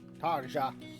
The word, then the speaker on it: Tarja: Really pronouncing that J. Tarja.